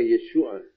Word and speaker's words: Yeshua: A pronúncia Yehoshua, passado para a pronúncia aramaica, fica Yeshua, assim como Yehoshua ben Yehotzadak, quando passa para a pronúncia aramaica, vai ficar Yeshua ben Yotzadak.